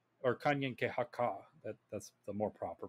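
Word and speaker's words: Kanien'kehá:ka: like it it looks it looks complicated if you're reading it on a piece of paper but once you actually like sound it out like it's not it's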